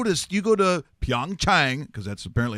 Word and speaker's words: Pyeongchang: and you go to see you go to Pyeongchang because that's apparently how you say it and